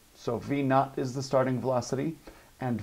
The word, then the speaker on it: V naught: This little word right here, it is pronounced V naught. It's a little zero next to it.